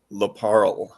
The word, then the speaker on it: LaParl: pronounce your last name larl so if if you said Carl just put a p in the front yeah I that